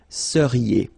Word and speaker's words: seriez: So here when you give when you've got this EZ at the end, then you get the sound E, seriez.